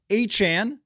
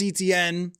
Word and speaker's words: Etienne: They went out and they spent, and Travis Etienne, not Etienne, if you missed that, Travis Etienne mentioned that his name has not been pronounced right for his entire career. It's actually Travis Etienne.